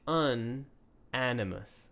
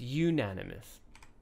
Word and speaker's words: unanimous: here because I find it's a very hard word to pronounce just by looking at it. Unanimous, rather than you'd think unanimous, something like that. But it's unanimous.